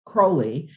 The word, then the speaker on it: Crowley: I have actually adopted Crowley and the only way frankly that I remember that that seems to be the more accepted pronunciation is I always say it's a crow not an owl right so probably it's